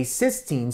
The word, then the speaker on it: cysteine: two cysteine molecules that is known as a cysteine so this spelling and this spelling are not the same so this is pronounced cyen this is pronounced cysteine so we